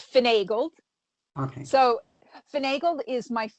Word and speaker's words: Finagled: if i mispronouncing it finn angled it's finagled okay so finagle is